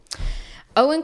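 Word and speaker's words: Eoin: It's pronounced like the English version, Owen. Oh, cool. Okay. Owen Colfer has jokingly stated that the movie would be finished 2 years after he died.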